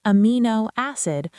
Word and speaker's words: amino acid: We pronounce it amino acid with the stress on ME.